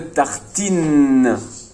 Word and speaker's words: tartine: Une tartine. Je vois bien le TI, mais ici, le TI fait le TI.